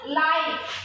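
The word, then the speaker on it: like: যেমন লাইক, এল আই কে ই, লাইক, লাইক হচ্ছে এইটা উচ্চারণ, ই উচ্চারণ হচ্ছে না, ই সাইলেন্ট আছে ঠিক আছে, কিন্তু ই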